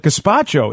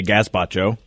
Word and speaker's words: gazpacho: Well, it's got a Z in it, so I say Gazpacho.